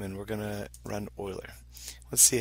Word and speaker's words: Euler: a file called euler so it looks like euler but it's pronounced euler swiss one of the files that